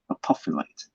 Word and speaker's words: apophyllite: nice big piece apocalypse i like to pronounce this name apophyllite like prophet my next piece okay